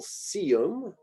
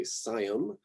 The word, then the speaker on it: Sium: Sicimbrium, Sium, here's a more classical Sium, I think is what I hear instead of say Sium.